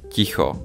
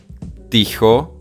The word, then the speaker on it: ticho: Okay, so we are gonna pronounce this one as teta, this one as pekne, rodina, ticho, not ticho, not rodina, not pekne, but soft.